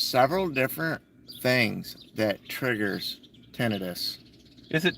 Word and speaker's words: tinnitus: There's several different things that triggers tinnitus. Is it tinnitus, titinus? How do you pronounce this shit?